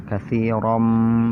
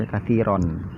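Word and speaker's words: كثيرا: Katsiram minawwan, katsiram. Salah kalau dibaca katsiron, ya. Salah.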